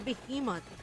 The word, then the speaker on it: behemoth: beh okay that's a behemoth it feels weird the Filipino in me say behemot guys why is it pronounced like a letter I if it's spelled with an E English is confusing be